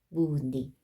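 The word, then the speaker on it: 무늬: 자음이 있을 때는 뭐예요? 이 발음을 해야 되니까 뭐예요? 무니.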